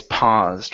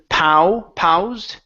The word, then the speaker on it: paused: think it's okay it's paused right here so instead of pow ped it's PAW paused paused good one more time